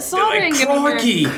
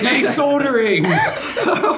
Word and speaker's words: soldering: can't believe that you solding golden face oh what oh yeah that's but the spelling is the same with the L yeah s o l d it's a silent l oh I see okay